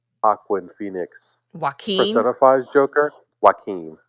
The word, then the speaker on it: Joaquin: Just like how like Joaquin Phoenix Joaquin. personifies Joker. Joaquin, right? Like I said, mispronunciation.